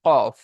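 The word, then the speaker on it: ك: 5 নম্বর মাখরাজ জিভের গড়া হতে একটু আগে বাড়িয়ে এবং তার বরাবর উপরের তালুর সাথে লাগিয়ে উচ্চারিত হয় কাফ।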